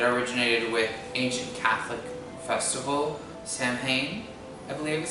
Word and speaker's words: Samhain: The Celtic festival that Halloween dates back to is pronounced Samhain.